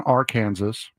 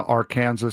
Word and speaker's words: Arkansas: Benton, Arkansas. Huber Heights, Ohio. Woo pig. Brunswick, Georgia. And Rockingham County, Virginia. They are looking at Arizona, Arkansas, Colorado, Florida, Georgia, Kentucky, Louisiana, Mississippi, Missouri, North